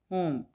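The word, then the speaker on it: whom: होम, डब्ल्यू की वैसे sound होती है व, लेकिन यहाँ पे होम, डब्ल्यू को साइलेंट लेटर है, ठीक है। इसको प्रोनाउंस नहीं करेंगे, लिखेंगे लेकिन प्रोनाउंस नहीं करेंगे, होम, किस से, किसको, इसका मीनिंग होता है।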